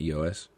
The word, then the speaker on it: EOS: machine it's really cool one EOS EOS EOS that's how it's pronounced Fitness then I went